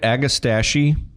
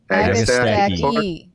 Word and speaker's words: Agastache: Okay, I always say I defend my plant names. So I say aga, like an agapanthus, right? Do you say stachys or do you say stachys? Stachys. Agastache? Agastache. And you always pronounce that last E.